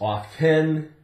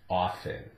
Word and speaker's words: often: period of time where it was pronounced uh originally as often it came back you know years later it was off 10 and it's changed somewhat over the years but now it's accepted as a silent tea often often you'll hear